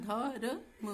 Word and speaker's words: धर्म: अब यहाँ पे क्या है, कर्म लिख देते हैं, धर्म, इसका उच्चारण धर्म होगा।